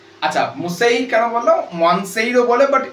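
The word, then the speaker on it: Monsieur: আচ্ছা মুসাই কেন বললাম ওয়ানসাইরও বলে বাট এনটা এনটা একচুয়ালি সাইলেন্ট হ্যা তো মুসাই গাসতে দেলাপার্ট এম বারন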